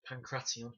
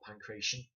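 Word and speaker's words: pankration: actually pronounced Pancrase, and the Greek sport was Pancration, not Pancration, just before anybody kicks up a stink.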